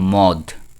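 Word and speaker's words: مد: তারপর আমরা শুনতাম আগে কি মা আমরা আগে শুনতাম মদ মদ শুনতাম কিন্তু শব্দটা মদ হবে না শব্দটা হবে কি মাদ তারপর আবার আগে শুনতাম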